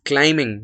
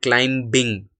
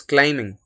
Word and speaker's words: climbing: For example, it is climbing, not climbing. It is climbing, right?